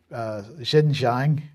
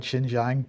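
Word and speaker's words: Xinjiang: saying here that they're talking about the the shinjang effect pronounce that right shinjang province and the Far West China which is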